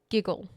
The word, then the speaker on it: gigil: Anyway, their word for this is giggle. But it's spelled Gigil.